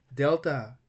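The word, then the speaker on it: δέλτα: Delta is pronounced like D in dawn.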